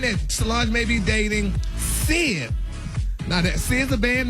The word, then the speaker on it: Syd: Is that how you pronounce her name? Even y'all, SYD Sid? Yeah, exactly, Sid.